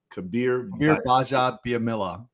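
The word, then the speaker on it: Kabir Bajabiamila: Kabir Baja, the G is silent. Baja Biamila. Kabir Baja Biamila.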